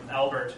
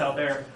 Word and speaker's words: Albert: His name's Albert, or Albert as it's pronounced in English, but it's French, so pronounced Albert.